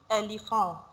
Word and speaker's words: éléphant: Here, because this is E, this is O, but because this is accent, E, we pronounce it like A, so it will be éléphant, éléphant.